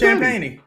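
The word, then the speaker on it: Champagnie: him real yeah his name his name is champany that's that's that's how the announcers sham champeny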